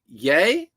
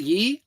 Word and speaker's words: Ye: stuff right now um oh it's pronounced uh pronounced yay not ye I say ye like Yeezy yay okay why I get